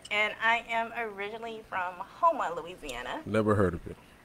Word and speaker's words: Houma: Houma.